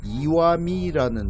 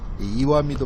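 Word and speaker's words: Iwami: 이와미도 마찬가지인데 바위 암자가 아니라 돌 석자를 쓰고 이와라고 읽었습니다.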